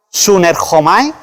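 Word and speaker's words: συνέρχομαι: Vámonos a la palabra griega juntasen, es la número 4905, que se pronuncia sunerhomai y significa cohabitar conyugalmente, es decir, hacer el amor.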